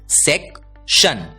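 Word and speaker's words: section: है शन और इसलिए एस ई सी टी आई ओ एन इस शब्द का उच्चारण होता है सेकशन सेक्शन अगला शब्द देखते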